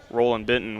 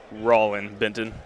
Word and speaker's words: Rollin Benton: area it's amazing that Roland Benton was able to come up with that belon sinks the first he is a junior from Jonesboro Louisiana Pardon Me Rollin Benton mispronounce it second one will go